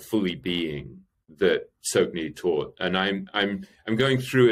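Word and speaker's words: Tsoknyi: There's a guy called Sokhni Rinpoche, and Sokhni is spelled T-S-O-K-N-Y-I, and Rinpoche is a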